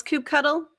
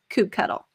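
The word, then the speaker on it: kubectl: if there is any question on how to pronounce coop cuddle here it is definitively on page 12 of this children's book this is how you pronounce coop cuddle another way to learn kelsey hightower has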